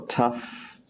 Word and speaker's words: tough: It can also sound like, don't ask me why, but it can make an F sound, as in rough or cough or tough. Here it becomes F.